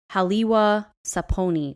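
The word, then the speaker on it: Haliwa-Saponi: actually part of the I hope I don't butcher this the halwa saponi tribe which is actually no that's right I said it right it's actually a tribe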